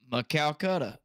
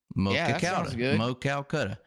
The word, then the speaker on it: Maquoketa: We got help with the pronunciation from Brandon Mitchell here. I appreciate the $2, Brandon. By the way, Maquoketa. Maquoketa. Maquoketa.